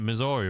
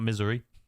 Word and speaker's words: Missouri: That's how you say it. Missouri, right? It's not misery.